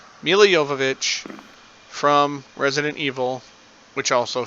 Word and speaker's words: Milla Jovovich: So, and yes, that's correct pronunciation of her name, according to her, Milla Jovovich from Resident Evil, which also features the Red Queen.